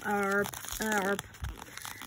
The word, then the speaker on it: herb: I love the way the Americans say it, they go herb. I love the way they say it, but we call it herb over here.